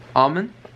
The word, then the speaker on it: almond: It's spelled with an L and a D, so it's almond.